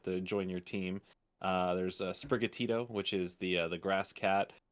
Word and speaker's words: Sprigatito: There's Sprigatito, which is the grass cat. Then there's Fuecoco, which is the fire crocodile, and then there's I have like the Quaxley. Pronounce the green one again. The cat. Sprigatito.